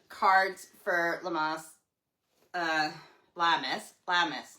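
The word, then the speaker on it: Lammas: Lamus, not Lamas. Lamis. It's L A M M A S.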